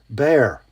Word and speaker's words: Bexar: The model is the Bear. I think that's somebody from Texas told me that's how you say that. It's spelled Bexar.